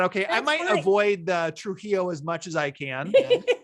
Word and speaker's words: Trujillo: it's really hard for me to say so trujillo i'm glad i nailed it there good but